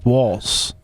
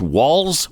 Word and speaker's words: Walz: Tim Waltz said and I've heard it pronounced walls or Waltz like a like the dance which is correct do we know do